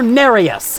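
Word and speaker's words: Nerius: little bit invaded by bloody finger narus is how you pronounce this name unlike Anastasia from before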